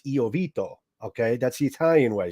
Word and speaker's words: Iovito: to have courtesy oito on and I hope I'm pronouncing your name right I do it the Italian way it's iito okay that's the Italian